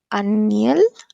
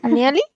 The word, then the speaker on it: Anieli: Y me parece muy interesante lo que comentaba Aniel, ¿lo pronuncio bien? Anieli.